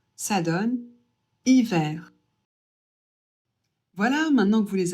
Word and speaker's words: hiver: Ici, on ne prononce pas le H.